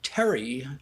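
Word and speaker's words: Thierry: pj and zhizu's father uh terry i think that's how he pronounced his name it's spelled like t-h-i-e um he's like he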